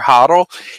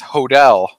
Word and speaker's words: Hodel: Most people say Hodel or Hodel. He actually pronounced it the correct way as Hodel, which I'll give you points, Nick.